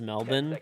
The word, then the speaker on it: Melbourne: It's pronounced Melbourne.